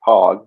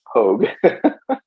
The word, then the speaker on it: Pogue: I was going to say your only crime is pronouncing it Pog. It's Pogue. Pog, pogue, semantics.